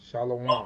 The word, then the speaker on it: shalom: You don't say, you don't say, Sha, wait, what is that they do? Shalom? Don't Shalom. do that. Right. It's Shalom.